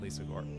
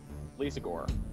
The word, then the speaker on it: Lisagor: I guess I was pronouncing it with the accent on the last syllable. I was saying it Lisagor. At least now I can't do it. Lisagor. Lisagor. Like Lisa Gore. Like if Lisa from The Simpsons married Al Gore.